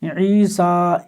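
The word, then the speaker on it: عيسى: इस तरह ईसा ईसा मुताद जगह में आएगा यानी कई जगह आएगा यह पढ़ेंगे लिखा कैसे जाएगा ऐसा या के साथ पढ़ा कैसे जाएगा ईसा इस तरह पढ़ा जाएगा ये इसका थोड़ा सा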